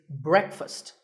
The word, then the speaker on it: breakfast: how would you say it the proper pronunciation is not break fast it's breakfast break with a short e sound and fussed with an uh sound so breakfast you know what I